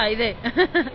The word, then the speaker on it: Aide: Aide se pronuncia Aide.